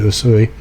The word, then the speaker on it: Usui: The one that most people, if you just say Reiki, the one most people think of is Usui, USUI. That's how you say it.